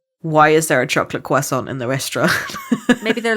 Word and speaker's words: croissant: eaten it and gone, you know how we say it in America? Please don't say it. Croissant. Oh. Croissant. No. Can I get It's not how you say it. Can I get a chocolate croissant? Non, c'est un croissant.